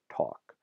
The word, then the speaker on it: talk: be Lear consonant so you can see this in a silent L in a word like talk so that L used